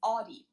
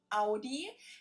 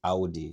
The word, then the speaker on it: Audi: The first one is Audi. Most Americans that I know pronounce it like I just said it. In German, we say Audi. Audi.